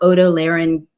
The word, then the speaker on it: otolaryngology: Bowden, Senior Fellow Otolaryngology and Sleep Medicine.